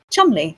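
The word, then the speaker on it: Cholmondeley: fiction first role players this is fiction first Chumley someone who some but you're aren't English you're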